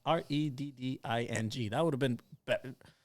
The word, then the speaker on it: Reading: He's helping me out on how to pronounce Reading. He said, pronounce Redding.